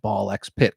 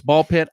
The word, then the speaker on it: BALL x PIT: was talking about it, I kept calling it Ball X Pit because I didn't know. Even though the week before, I believe you were correct in saying that it's just Ball Pit. So it's Ball Pit.